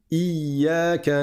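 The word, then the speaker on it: إِيَّاكَ: Il faut faire attention, dans la Fatiha, beaucoup de gens omettent cette shadda. Et ils vont dire Iyaka, Iyaka, sans prononcer la shadda. Et ça change complètement le sens de la phrase.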